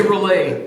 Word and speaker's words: R'lyeh: the game Lost in Relay? Am I saying it right? We say relay. Relay.